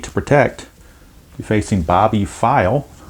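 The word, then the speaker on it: Pfeil: protect you're facing bobby file i guess that's how you pronounce it i'm not really sure but just that's the way i'm reading it that the p is silent all right six three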